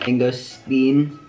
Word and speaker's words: mangosteen: Mangosteen. I think it's mangosteen. No, S-T-E-E.